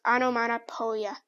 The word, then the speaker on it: onomatopoeia: It's pronounced onomatopoeia. Onomatopoeia.